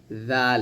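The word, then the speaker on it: ذال: দাল আর জাল যখন উচ্চারণ করবেন এযে ছায়ার মত জিহ্বাটা উপরে দাঁতের আগে লাগাবেন নিচে দাঁতে যেন না লাগে জাল এরকম জাল এরকম ভাবে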